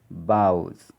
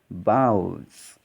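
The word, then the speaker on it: boughs: the first word is bows see the pronunciation also bows okay gh these two letters are silent bouts now the next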